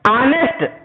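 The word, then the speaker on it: honest: अब देखिए यहां पर, है ना, ये देखिए ऑनेस्ट, ये एच जरूर है, एच साइलेंट है और उसका उच्चारण होता है ऑनेस्ट, और ऑनेस्ट होने के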